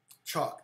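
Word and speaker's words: chock: Oh, it's a C-H-O-C-K. Yeah, so it's pronounced the same way. chalk, yeah, and a wheel chalk.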